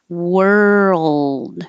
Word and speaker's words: world: like where were you world moving from the r to the L and making sound the whole time and holding the tongue in the L position long enough that the L Sound can be heard world and that little